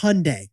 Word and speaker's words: Hyundai: now working in new york city hyundai it's pronounced hyundai like 7 days well done well they make